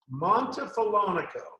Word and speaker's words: Montefiorino: from New Orleans to now, how do you pronounce the name of the town that you live near, the village? Montefiorino. Montefiorino. Montefiorino.